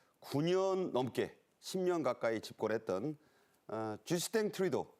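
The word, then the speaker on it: 쥐스탱 트뤼도: 넘게 10년 가까이 집권했던 쥐스탱 트리도 어 캐나다 발음은 불어 발음이 캐나다 총리가 퇴임했고 관세 전쟁이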